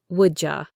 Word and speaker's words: would you: Would you becomes woulda. Your turn, woulda.